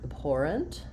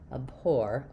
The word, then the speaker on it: abhor: So in the word abhore we have second syllable stress which means um my letter a is not going to be the a or the a sound. It's going to be a reduced short little sound.